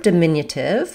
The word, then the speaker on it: diminutive: So the word diminutive has second syllable stress. That means the min syllable is longer and the other syllables are shorter and have reduced vowels.